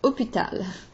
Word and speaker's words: hôpital: The accent circonflexe, H-O, doesn't really change the pronunciation.